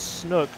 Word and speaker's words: Snook: Also, Grayson, I just want to point out that we do have official word from G-Hawk Mama that it's Snook rhymes with Cook.